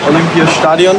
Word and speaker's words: Olympiastadion: Collins tour were here in Berlin at the Olympia Stadium and that's the right pronunciation doing the kid run-through for the kit